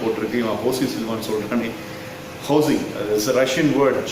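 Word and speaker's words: José: ஹோசி இட்ஸ் a Russian word. J is being pronounced as H over there.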